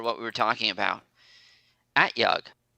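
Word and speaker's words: At-Yug: we were talking about at yug so the o is pronounced is an a at yug okay thank you the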